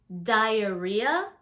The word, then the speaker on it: diarrhea: Then there's also diarrhea. Diarrhea, that's how you pronounce it.